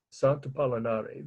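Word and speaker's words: Sant'Apollinare: I think in Italian they would say Apollinare. A-P, like Apollo, only without the second O. So I'll spell it again. Sant, S-A-N-T, and then second word. A-P-O-L-L-I-N-A-R-E. Sant Apollinare, the name of the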